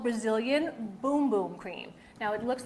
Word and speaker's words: Bum Bum: and it's called brazilian boom boom cream now it looks like it says bum bum it does say bum bum but it's pronounced boom boom okay because at first